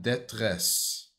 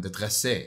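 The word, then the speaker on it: détresse: SOS Дантерия and Детрес. Это на французском. Дантерия and Детрес. And Детресе. А нет. В конце же не произносится.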